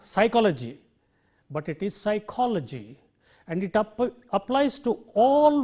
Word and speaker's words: psychology: have the suffix Lodgy the syllable immediately preceding logie will be stressed that the rule you highlight that syllable and therefore you say psychology you see psychology it is not psychology it is not psychology